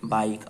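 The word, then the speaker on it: bike: ठीक है, बाइक। और यहाँ पे जो ई है यहाँ पे साइलेंट है। ठीक है, इस चीज को ध्यान देखिएगा कि आखिरी में जो ई होता है वो साइलेंट होता है।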